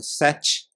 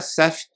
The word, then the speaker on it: Seth: parênteses aqui talvez você esteja se perguntando porque eu tô dizendo CF e não tô dizendo sete né porque na verdade como ela era uma americana tudo isso aconteceu lá e então eu tô pronunciando da forma que seria em inglês né o nome correto Então seria CF da mesma forma que eu não estou dizendo jan eu estou dizendo Jane Mas